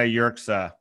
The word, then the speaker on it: Yerxa: Hunter Rodriguez, and Yerxa. Did I pronounce that right? How do you pronounce, how do you? Yeah, you pronounced it right. It's Yerxa.